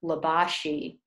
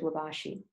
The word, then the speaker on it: Libasci: But our bishop is Bishop Peter Labashi. You spell his name Libasci, Bishop Labashi.